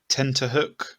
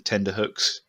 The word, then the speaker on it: tenterhook: I've just realised I said tenterhook, and I only found out about that about 2 years ago, that I'd been saying tenderhooks.